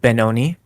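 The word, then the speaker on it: bnxn: like from a different Community mhm um oh benon but instead of the O it's an X so it's spelled like b n x n i okay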